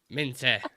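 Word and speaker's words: Minteh: names in there um Min minte that's how we pronounce it sorry I've been pronouncing it wrong all this time um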